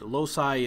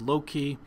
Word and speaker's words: loci: And loci is also pronounced as loci.